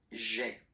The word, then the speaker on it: J'ai: Okay, so that you get this sound j'ai. J'ai. Okay, so J apostrophe AI. Remember, when you combine this AI, you get the E sound.